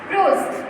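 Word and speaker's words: rose: और रोज, रोज मीन्स गुलाब, देखिए होगा आप लोग के घर में भी होगा, रोज, र ओ ज एस, ई का प्रोनाउंसिएशन है ही नहीं, ई का प्रोनाउंसिएशन नहीं है।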